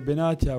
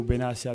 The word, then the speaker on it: Benatia: Die erste wichtige Frage, die sich Deutschland schon seit ein paar Tagen stellt: Wie wird dein Name richtig ausgesprochen? Buongiorno a tutti. Si può dire Benatia o Benatia, non cambia poco.